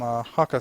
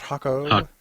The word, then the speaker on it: Haako: much as the um Haka family probably been saying it wrong this entire time is that hako hako hako okay been trying to get